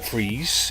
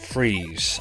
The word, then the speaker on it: Fries: And it was designed by Ed Fries, or Freeze. It's spelt Fries, but I'm told it's pronounced Freeze.